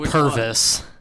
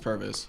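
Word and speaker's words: Pervis: I know it's not pronounced Purvis. It is actually pronounced Purvis.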